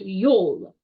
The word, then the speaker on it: Yule: So in Norse culture, the winter solstice was known as Yule, how we pronounce it now, or it was Yule. That's how they said it. It was Yule. So it makes a lot of sense of why we went from Yule to Yule.